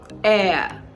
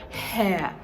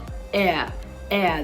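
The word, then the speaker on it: heir: to pronounce this as hair hair but it isn't it the H is silent in this word so it is h-e-i-r air the same way you'd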